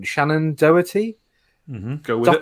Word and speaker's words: Doherty: You've got I can never pronounce her name. Shannon Doherty, Go with it. Doherty, whatever.